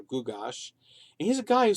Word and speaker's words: Gyges: His real name would have been pronounced something like Kukash or Gugash.